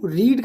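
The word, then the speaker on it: read: है तो have you, रीड का देखिए रेड रेड होता है, so have you रेड this book, spelling देखिए सेम होगी, कंफ्यूज नहीं होगी कि हैव यू रीड ही होगा but pronunciation will be रेड।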